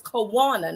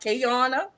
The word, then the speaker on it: Kawana: Her name is Kawana, not Kayana.